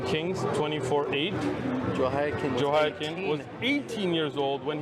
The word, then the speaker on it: Jehoiakim: Dude, Jehoiakim, I'm with you, bro. pronunciation guy. Jehoiakim?